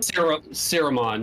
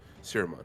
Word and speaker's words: Siromon: Siromon, yeah. S-I-R-O. Yeah, no, I see it in the M-O-N. veiled light thing. I'm Gotcha. just trying to figure out how to pronounce it. Siromon.